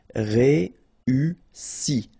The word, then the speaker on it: Réussi: Okay, first you've got this E, then U and double S, so really strong S and I. Réussi.